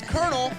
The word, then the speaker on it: colonel: to our show notes why is colonel pronounced colonel like k-o-r-n-e-l yeah isn't that strange